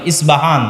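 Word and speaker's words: أصبهان: আমরা প উচ্চারণ করি ইস্পাহান, আরবিতে এটা উচ্চারণ হয় না। আরবিতে হয় আল আসবাহানি, বা উচ্চারণ হয় ইসবাহান বা আসবাহানি।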